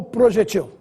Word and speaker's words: projetil: forma mais usual ortoepia Projétil ou projetil novamente duas palavras que estão corretas Mas se você quiser arremessar a que tem preferência use a forma projétil com assento triplex ou triplex apesar